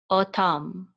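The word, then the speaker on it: אֹתָם: The vav with a cholem on top is going to say o, o, and this is a tav. It's going to say t. This is the kamatz. It's going to say ta with a mem sofit. Tam, tam, o tam, o tam. Okay, o tam.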